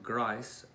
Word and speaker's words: Grace: But with undercover barmaid Grace, or Grice as they pronounce it, she had split from Inspector Campbell, and she really is into Tommy.